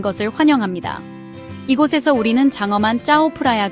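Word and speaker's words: เจ้าพระยา: 이곳에서 우리는 장엄한 짜오프라야 강, 흔히 왕들의 강이라고 불리는 곳을 따라 여정을 시작합니다. 짜오프라야라고 발음하는 이 강은 방콕의 젖줄과 같으며 도시를 구불구불 흐르면서 문화유산과 현대적인 경이로움이 어우러진 매혹적인 풍경을 선사합니다.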